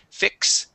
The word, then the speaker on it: fix: practice uh fix okay so this is an X sound you're going to pronounce a k and an S fix fixed there you go okay fixed